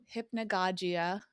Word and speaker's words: hypnagogia: And then how do you pronounce it again? Hypnagogia.